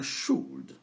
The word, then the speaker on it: should: Donc, n'oubliez pas, on ne prononce pas le L. On a could ici. On a would ici. On a should.